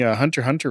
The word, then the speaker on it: Hunter x Hunter: I've been watching Hunter x Hunter recently. Isn't it Hunter x Hunter? Hunter? Never seen it. It's got an X in it, but I don't think you actually pronounce the X.